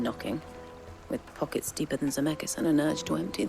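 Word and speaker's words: Dzemekys: That's the first time we've had Zemeckis said out loud, so we finally get the actual pronunciation of that, which is what we could kind of assume, the silent D.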